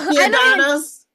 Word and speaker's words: Giordano's: There is an R in there. So Giordano.